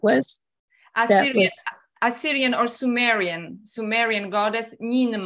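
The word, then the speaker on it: Ninmah: Assyrian or Sumerian goddess Nimna. Right. Nimna? Nimna. How do you spell that?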